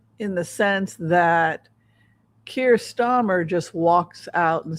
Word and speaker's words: Starmer: How do you think that Starmer, excuse me, Starmer, I better correct that. I've got an error here. So how do you think that differs from the United States, in the sense that Keir Starmer just walks out and